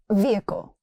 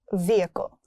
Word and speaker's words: vehicle: Vehicle, not vehicle. It's vehicle. That's his vehicle.